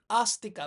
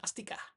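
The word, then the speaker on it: āstika: Kalau a atasnya ada ee gentengnya seperti itu, itu bacanya a panjang. A bukan a. A jadi astika bukan astika.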